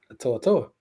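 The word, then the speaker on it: To'oTo'o: saying it right no it's Toto it's somebody on the show it's to Toto to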